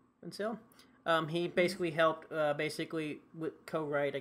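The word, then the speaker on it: Vancil: Obviously, Mark Vincil, I think that's how you pronounce his last name, Vincil.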